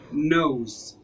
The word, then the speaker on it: nose: زي مثلا في كلمة nose nose nose nose يعني أنف nose nose nose.